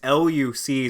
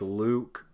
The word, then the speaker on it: Luc: The actor that played the brother, his name is it's Luc. So I think his name is like Luke, but it's spelled Luc.